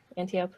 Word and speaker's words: Antiope: of many times I cried was when, and Antiope, is that how you say it? I'm horrible with names, especially Greek. Yeah, that's right. Antiope.